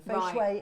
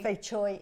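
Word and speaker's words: 翡翠: Fei shui is Mandarin. Okay. Fei choi is Hong Kong. If you're from Hong Kong, okay. say fei choi. I thought it was fei shui, and that's the water.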